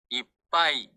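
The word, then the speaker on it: いっぱい: 뻥 뻥 쁜 이쁜 이게 어 한 박이 있는게 작은 즈 한 박이 있는게 조금 어색 하면 한번 멈췄다가 지나간다고 생각해요 이이 이바이 요렇게 어 그 중간에 소를 넣는 거예요 바이 바이 이렇게 그렇게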